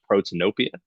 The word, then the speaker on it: Protanopia: I'm not exactly sure how to pronounce it. Is it Protanopia?